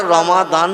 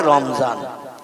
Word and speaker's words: রমাদান: এইজন্য আমরা রমাদান বলি আরবি ভাষায়। ওরা বলে রমজান।